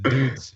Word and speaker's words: DUDZ: And I've been pronouncing it wrong this whole time. I've been saying duds. It's dudes.